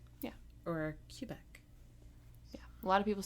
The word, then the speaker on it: Quebec: Ooh, I also learned, allegedly, the correct way to pronounce that province in Canada that starts with a Q. Quebec. Yeah. Or Quebec.